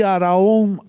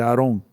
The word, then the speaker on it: Aarón: Vemos en Éxodo 28:1, "Y tú haz que se acerquen a ti, Araón, Aarón." Alguien me ha corregido. No se dice Aarón, sino Aarón. Está bien, porque tiene doble a Aarón, tu hermano y